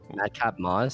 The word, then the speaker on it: Madcap Moss: Madcap Moss.